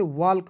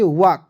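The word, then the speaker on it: walk: डब्लू ए एल के बहुत लोग इसे वाल्क पढ़ लेता है नहीं पढ़ना है दोस्तों क्यों क्योंकि दोस्तों आपको एल को यहां पर साइलेंट रखना है ठीक है इसे पढ़ेंगे वक वक मीस क्या होता है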